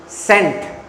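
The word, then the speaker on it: scent: इसमें सी साइलेंट है। सी साइलेंट है ना? अब मैं बच्चे को सिखा रहा हूं कि सेंट बोलो, सेंट बोलो। वो सीख नहीं पा रहा क्योंकि सी तो साइलेंट है।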